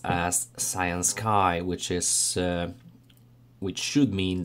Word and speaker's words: Cyansky: or maybe fortunately the brand is actually pronounced as cyan sky which is which should mean the sunny and